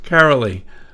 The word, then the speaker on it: Karoli: right see you know I had the Germanic pronunciation of the last name but not of the first name anyways yes carolly welcome well thank you